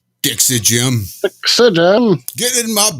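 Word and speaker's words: Gem: And it wasn't until just very recently that I realized it's not Jim, but Jim. Yeah. Ah. Right. G-E-M. Gotcha. It's all in the pronunciation.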